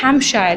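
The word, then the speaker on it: Hampshire: जो यहाँ पे पी है वो साइलेंट है हैम्पशायर में, इसलिए इसकी प्रोनाउंसिएशन जो है वो हैम्पशायर है।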